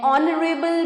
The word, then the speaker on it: honorable: An honorable man, यहाँ पे भी H silent हो जाता है और sound आती है O की, okay?